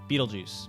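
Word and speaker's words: Betelgeuse: bail G bata bata Beetlejuice beetlejuice that's how you say it proximus and Centauri I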